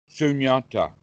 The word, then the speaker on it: Sunyata: Is it pronounced Sanatta? Sunyata.